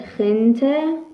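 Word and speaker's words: gente: خ میده خ مثل خ مثل خ مثل خنته و مثل خیرسل خنته یعنی مردم خیرسل هم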